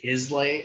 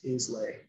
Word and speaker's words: Islay: So Isla, when we refer to the Isla malts, when you see those bottles that say Islay on them, it's not pronounced Islay.